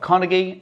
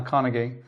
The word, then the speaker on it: Carnegie: tally hello and welcome to our review of Carnegie and yes that's how I'm going to pronounce it I've heard it pronounced four different